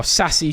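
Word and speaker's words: Sacy: really comment on that um so yeah obviously Stacy Panka oh sassy sorry should I say I always pronounce his name wrong I'm sorry sassy pankada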